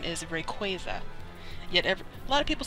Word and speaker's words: Rayquaza: In the movie, pretty sure Ash says Rayquaza. Or, I think. But then the Pokedex itself says Rayquaza. I mean, no. It says Rayquaza. Excuse me. As in Quasar, as in, I think